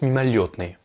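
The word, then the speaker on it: мимолётное: Donc là c'est écrit мимолетное, mais ça se prononce мимолетное.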